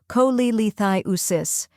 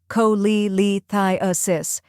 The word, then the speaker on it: cholelithiasis: The correct pronunciation is cholelithiasis. First part, co, like co in cold.